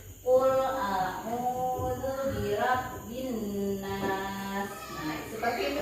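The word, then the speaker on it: أعوذ: Qul a'udzu birabbin nas. Di sini ada alif, ada ain. Jadi harus ada perbedaan tempat mahrizul huruf alif dengan ain. Ain ini di tenggorokan. Qul a'udzu birabbin nas.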